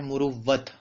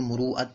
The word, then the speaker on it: مروت: مروت کے خلاف ہو۔ اصل تلفظ تو اس کا ہے مروت، اور عربی میں تو اس کو مروعت پڑھتے ہیں، لیکن اردو میں جو معروف ہے، زبان زد عام ہے، وہ مروت ہی ہے۔ تو ایسا کام